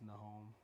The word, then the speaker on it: Nahom: And Nahum was Nahom. Nahum is Nahum is how it's spelled, I think, in the Bible. But Nahom.